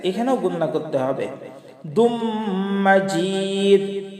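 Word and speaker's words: مَجِيد: হামিদুম মাজিদ হামিদুম। এই যে এখানে মিমের উপরে তাসদিদ আছে, এখানেও গুন্না করতে হবে। দুম মাজিদ জিমিয়াজের জি, এখানে একটু শক্ত করে উচ্চারণ করতে হবে। মাজিদ মাজিদ।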